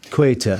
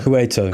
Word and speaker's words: Ceuta: How do you say Ceuta. Ceuta.